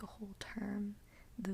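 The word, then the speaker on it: θ: line going through it, and it's pronounced th. I think it's like a Greek letter, like theta or something. I don't remember, but in IPA, this is just the phoneme.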